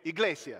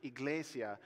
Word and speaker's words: Iglesia: it right I'm sorry it just does okay elasia that's the Spanish word for church that word that modern Spanish word for church Iglesia comes through a Latin route that goes back